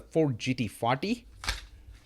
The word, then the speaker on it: Ford GT: We have the Ford Escort RS 2000, and this is one of my favorite castings, the Ford GT40. I often say Ford GT rhymes with beauty, right?